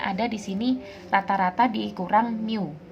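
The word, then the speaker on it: μ: Jadi dalam varians itu kan rumusnya ada di sini rata-rata dikurang mu. Ini bacanya mu ya, mu pangkat 2.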